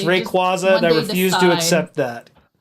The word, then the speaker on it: Rayquaza: people how to say Rayquaza instead of Rayquaza. Like It's Rayquaza. I refuse to accept that. No, it's Rayquaza. I've always said it to the physicist. It's named after quasar.